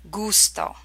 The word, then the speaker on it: gusto: have words using these sound combinations gato Paco gusto Largay P eggy and here they are pronounced in Italian and then their English equivalent gato capped Pogo I pay gusto flavor large a large broad wide P eggy